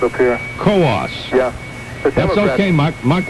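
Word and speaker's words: Coos: colossal county democrat it's c-o-o-s but uh we pronounce the co-ops up here co-ops yeah that's okay mark mark with uh mark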